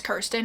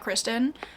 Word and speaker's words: Kirsten: author's name wrong because her name's Kirsten not Kristen so that's my bad